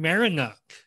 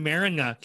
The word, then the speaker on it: Marynuk: ask you to tell me the correct product pronunciation of your last name but i'm going to take a shot this is marinock perfect perfect that's good welcome marinuck how are you doing today i'm doing good